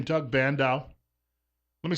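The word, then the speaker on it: Bandow: this are you familiar with the name Doug bandau let me spell it for you well you could probably get the first name right but bandao is spelled b-a-n-d-o-w he worked for Ronald Reagan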